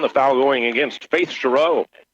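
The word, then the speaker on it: Sherrow: foul going against Faith shro Faith's uh last name spelled s h e r r o w stress on the second syllable Cho kind of fun to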